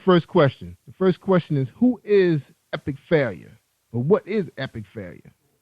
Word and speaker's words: Epic Failure: Now your bio say that North Star Media recording artist Epic Failure, pronounced Epic Failure, is an urban pop duo resulting from the collaborative efforts of singer-producer Billy Joe Marrero and rapper Nick Young.